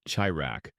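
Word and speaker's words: çırak: There might be one or more apprentices, often young boys or youths known as churak, pronounced chirak.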